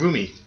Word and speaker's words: Rumi: That's rummy, on it. Rumi. It's not. It's Rumi. So one's a game, one's a card game.